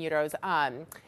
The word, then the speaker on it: gyro: One is a gyro restaurant, specializing in gyros. I got the pronunciation right.